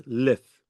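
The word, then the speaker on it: l'œuf: Leof. Leuf. How do you say it? No. The egg. The egg. The egg. Leuf. Leuf. Oh, okay, fine. It's O-E-U-F, no? O-U-F. Leuf. Okay, so it's Leuf.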